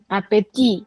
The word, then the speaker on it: appétit: appétit. The last T is not pronounced.